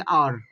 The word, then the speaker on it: hour: लेकिन ये यहाँ पे जो HOUR है इसको पढ़ेंगे और। क्या पढ़ेंगे? और।